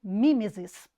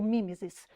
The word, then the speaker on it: mimese: como sendo mimese ou mimeses tá nós podemos pronunciar né existe duas formas de pronúncia mimese ou mimesis que significa imitação então